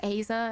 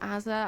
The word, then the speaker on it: Asa: Maya has corrected me is pronounced ASA and not Aza I'm so sorry I